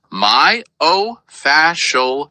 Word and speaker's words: myofascial: She say myofi myofacial pain. You've got it. It's pronounced my oof fascial pain.